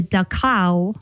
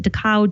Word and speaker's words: Dachau: he was there, and he helped free the Dachau, I think that's how you pronounce it, Dachau, Germany concentration camp.